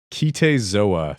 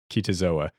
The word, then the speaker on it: Kite Zo A: It was a Haitian documentary called Kite Zo A. Three words. Kite, spelled like kite, K-I-T-E, space, Z-O, space A. Kite Zo A.